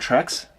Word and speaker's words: Trex: So if you've heard of one, it's probably Trex. It's not pronounced T-Rex.